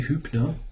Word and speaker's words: Hübner: I should probably simply close the position, transposing to normal Hubner setup. I probably should say Hübner. I mean, I actually know to how to pronounce that as it is a German name.